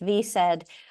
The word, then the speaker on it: VSED: The acronym is pronounced VSED.